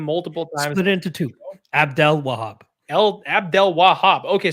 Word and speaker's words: Abdelwahab: Abdelwahab. Abdelwahab. Okay, so there it's an extra syllable in there. Abdelwahab.